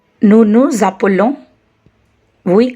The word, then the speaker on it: appelons: And the endings of nous and vous conjugations, ons and oz, should be pronounced. Nous nous appelons, we call ourselves.